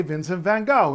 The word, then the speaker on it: Vincent van Gogh: you might remember that the letter g in Dutch is never ever ever pronounced G or for that matter J it's pronounced or at